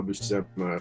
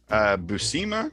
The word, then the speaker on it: Buscema: And then Bill Mantlo and Sal Buscema. How do you say his name? Buscema, I think.